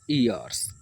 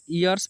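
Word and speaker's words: years: साथियों अगर बात करें इसे यर्स नहीं प्रोनाउंस करेंगे आप यर्स आप जानते हैं गलत हो जाएगा ठीक है यर्स पढ़ेंगे तो आप तो आप कहेंगे सर फिर क्या पढ़ेंगे तो आप सर इसे ईयर्स पढ़ सकते हैं या फिर यर्स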